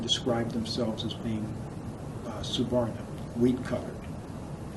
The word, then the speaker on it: suvarna: abides by the rules of caste is called suvarna suvarna is s-u-v-a-r-n-a sometimes it's spelled s-a-b-r s-a-b-a-r-n-a suvarna means having color anyone